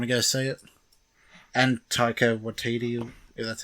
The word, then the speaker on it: Taika Waititi: And Taika Waititi, if that's how you say it.